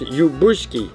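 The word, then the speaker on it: Ljubuški: The second is from my town of Lubushki, pronounced Ubushki.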